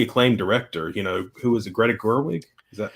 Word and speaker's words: Greta Gerwig: Because, I mean, it's got a pretty acclaimed director, who was it, Greta Gerwig? Is that how you say it? Yeah, Greta Gerwig.